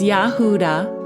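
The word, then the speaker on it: יהודה: And in the blue letter Bible, that word Yehuda for Judah is H3063. And it's pronounced Yahudah.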